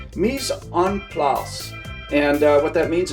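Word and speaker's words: mise en place: out uh it's uh in french it's it's pronounced mis on plas and uh what that means is everything is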